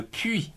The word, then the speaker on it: puits: de 60 coups par minute le pouls le puits aussi pour chercher de l'eau p uis ts